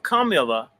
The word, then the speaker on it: Kamala: The proper pronunciation is Kamala. Kamala, that's her name.